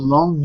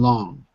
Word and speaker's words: long: The first is the long G, the hard G in long.